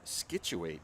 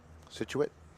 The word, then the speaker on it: Scituate: And one from Scituate High School, which is where Sammy Owens is from. Scituate? Is that it? What is it? Scituate. Scituate.